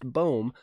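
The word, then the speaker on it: Bohm: white sox alec baum don't call him bomb it's pronounced boom he's from the phillies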